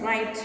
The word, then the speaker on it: writhes: It is pronounced as right.